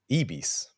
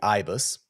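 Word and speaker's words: Ibis: of the hotel chain EES I mean in English it would be ibus but we had literally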